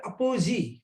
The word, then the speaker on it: apogee: इसको pronounce किया जाता है apogee, right?